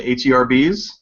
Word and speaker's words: herbs: Or how about the green things that you put in food, the HERBs? Green things. Right? You say herbs over there. We just skip the H completely.